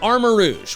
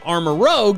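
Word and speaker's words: Armarouge: the next pokemon is armor rouge which i incorrectly pronounced armor rogue in my reaction rouge is french for red so its name is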